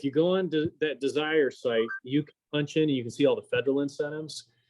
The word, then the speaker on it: DSIRE: It's without the E. It's DSIRE. Desire. It's Okay. Desire without an E.